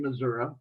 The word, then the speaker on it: Missouri: i got my bachelor's at the university of missouri and that's the correct pronunciation of that state and went on to